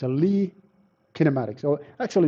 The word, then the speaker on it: Lie: way to treat the rotations so it's a Lee kinematics or actually it's a Le mathematics but